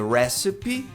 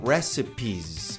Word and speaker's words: recipe: É recipe. No plural, recipes. Esse S tem som de Z.